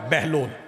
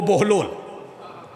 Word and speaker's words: بہلول: ہاں، یہ بہلول ہے لفظ، ویسے عرف عام میں مستعمل ہے بہلول. حقیقت میں تلفظ جو ہے وہ بہلول. بہلول پنجابی والا نہیں، عربی والا.